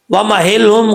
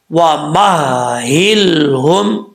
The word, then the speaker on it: وَمَهِّلْهُمْ: کے اوپر شد ہے، اب اکثر لوگ پڑھتے ہیں وَمَهِلْهُمْ قَلِيلًا، وَمَهِلْهُمْ قَلِيلًا، ایسے نہیں پڑھنا، اس کو کلیئر کرنا ہے۔ کیسے؟